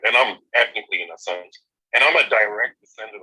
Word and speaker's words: Asante: Well, people pronounce it Ashanti, but we actually pronounce it Asante.